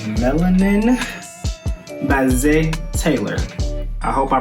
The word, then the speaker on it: Zé: i pronounced that right it got an accent on the e z e and i don't really know how to pronounce accents so forgive me if i pronounced it wrong but i think it's z taylor again the song was